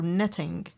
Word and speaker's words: knitting: I want you to pay attention to the letter K it is silent silent letter netting pen pen all of